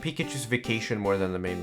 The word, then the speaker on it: Pikachu: in Swedish because here you don't say 'pete Pikachu or whatever here is a Pikachu you stress that second syllable don't this pokemon down